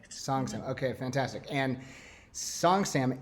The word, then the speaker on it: Songtsam: Songs Sam.